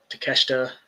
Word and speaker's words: Takeshita: Takeshita. Did I say it right? Takeshita. Yeah, you did.